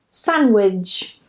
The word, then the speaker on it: sandwich: The next rule is whenever we have an N and a D together, we normally just remove the D.